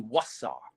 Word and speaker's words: Wasar: Well, that's like Osar. It's really Wasar, right?